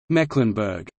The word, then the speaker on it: Mecklenburg: The same applies to the E in the geographical name, Mecklenburg, for people in that region.